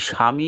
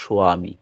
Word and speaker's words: স্বামী: স্বামী উচ্চারণ হবে না যখন আমরা দীক্ষাপত্রে লেখা থাকে স্বামী এই স্বামী কিন্তু উচ্চারণ হয় না প্রকৃত উচ্চারণ হচ্ছে সয়ামী ওটা যাতে কেউ দেখে